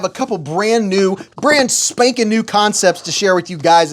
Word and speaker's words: Kansept: That, by the way, that is how you pronounce this, is Concept, not Kansept.